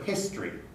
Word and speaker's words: history: The same is true for history. History, history, the t, the history, becomes history, history.